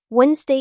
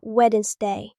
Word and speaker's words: Wednesday: Wednesday is not wedded day.